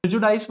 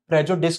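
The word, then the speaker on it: prejudice: प्रिजुडाइज वगैरह का meaning तो आप बचपन से पढ़ रहे हैं, हालांकि सही प्रोनाउंसिएशन प्रेजुडिस होता है इसका।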